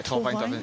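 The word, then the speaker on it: Torfaen: How do you say uh Tovine Dolphins? Is that Torvine? Yeah, Torvine. It's quite close to Newport city.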